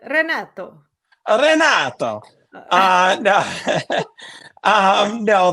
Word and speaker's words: Renato: I need to say rato that's true that's true wow I'm surprised that anyone noticed that almost every American pronounces my name like a deer that's what I've been